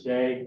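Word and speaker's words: Doege: Like Ron had said, my name is Day. It's spelled D-O-E-G-E.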